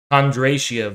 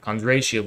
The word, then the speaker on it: Kondratiev: Let me see if I'm pronouncing him right. Kondratiev waves. Yeah, Kondratiev waves.